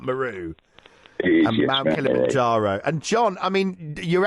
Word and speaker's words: Meru: mount meru and kilimanjaro maru did i because i think i pronounced that incorrectly is that what it is mount meru and john i mean